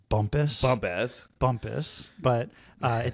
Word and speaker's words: Bumpass: it's in this place it looks like it's pronounced it's in Virginia bump ass bump ass Maryland or Virginia I'm sorry Bumpass Virginia I'm sure it's pronounced Bumpus Bumpass Bumpus but uh it definitely looks like